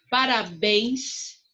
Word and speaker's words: parabéns: Parabéns, o ens é a sílaba mais forte.